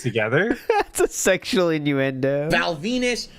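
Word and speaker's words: Val Venis: Val Venus, who obviously rhymes with penis, and that was his gimmick.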